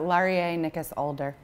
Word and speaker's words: Laurier Nicas Alder: I don't want to get wrong absolutely uh laer ncas aler but you can call me because that's so many fewer syllables thank you for saying that cuz I